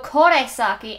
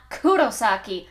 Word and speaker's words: Kurosaki: way I heard it you said Ichigo Kaki and not Kurosaki like it's supposed to be pronounced I know that learning